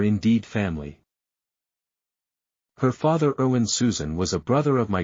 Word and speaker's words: Zschüschen: I had to correct people on the pronunciation. No, it's Susan.